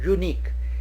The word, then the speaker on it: unique: Now unique starts, the pronunciation starts with y-o-o, unique, and so we use a before this adjective.